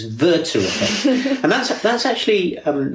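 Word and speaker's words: Werther: interesting point and it's um I'll correct your pronunciation, Hisha. It's it's German. It's Verter.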